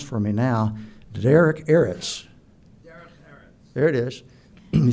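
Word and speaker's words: Derech Eretz: There's a term that Jordan is going to pronounce for me now, Derek Eretz.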